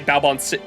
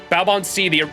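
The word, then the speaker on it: Baobhan Sith: sorry, I should say Balbon is how you pronounce it, right? Balbon was the original fairy that thanked Ash the Savior.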